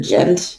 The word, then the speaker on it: Ghent: this cabinet this is where the treaty of ghent or gent it's spelled g-h-e-n-t was signed on february 17th 1815 before being sent to congress for ratification in the war of easing 12.